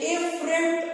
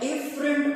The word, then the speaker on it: afferent: थोड़ा सा फर्क है प्रोनाउंसिएशन के अंदर भी और स्पेलिंग्स के अंदर भी। जो ब्लड आने वाला है वो आता है एफरेंट आर्टियोल से, AFFERENT, और जो ब्लड मूव करके जा रहा है वो इफरेंट, EFFERENT. You should differentiate both of these arterioles.